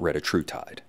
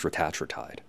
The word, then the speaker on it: Retatrutide: wanted to talk to you about Retatrutide, not Retatrutide. It's pronounced Retatrutide.